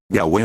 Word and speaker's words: Yahweh: Aquí ellos escriben el nombre usando la letra V del idioma latín cuya pronunciación es U. Entonces se leería Yahwe o Yahwah.